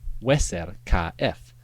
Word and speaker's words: Userkaf: For example, the name Userk should be pronounced Weser KF, meaning powerful or vital is his car.